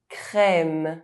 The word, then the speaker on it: crème: sécurité safety journée day E with a grave accent is pronounced [ε]: frère brother crème cream mètre metre colère anger